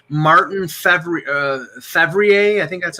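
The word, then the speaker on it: Fehérváry: Okay, Washington is saying Martin Fevrier. I think that's how you pronounce it. Fervari.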